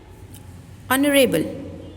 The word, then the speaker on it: honorable: We are not saying honorable, we are saying honorable.